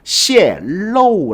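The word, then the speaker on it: 泄露: 泄露 라고 읽어야 됩니다.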